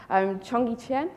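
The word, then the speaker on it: Cheonggyecheon: now pronounce it correctly chungee chen i think is the correct pronunciation so this is the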